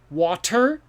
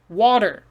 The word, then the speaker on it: water: word did you say water well we've talked about this before t sometimes doesn't sound like a t it sounds like a d this should be water okay so water maybe